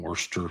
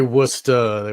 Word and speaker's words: Worcester: This is Hoagland sending something to Esther Brooks from Worcester, I guess. Worcester. I'm obviously not from the East Coast. Yeah. You could say Worcester.